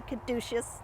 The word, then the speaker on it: caduceus: On this side of the headstone, if we look up at the top, we see a caduceus, or some people say caduceus, depends on how you want to pronounce it.